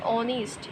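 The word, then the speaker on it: honest: আর preposition দিছে বলছে যে রামবাবু ইজ ড্যাশ অনেস্ট ম্যান তাহলে অনেস্ট কথাটা তাহলে এখানে দেখো এইচ দিয়ে শুরু হলে ওইটা উচ্চারণটা কিন্তু ভাওয়েল লাইক অনেস্ট তাই জন্য এখানে আমরা কি বসাচ্ছি এ বসাচ্ছি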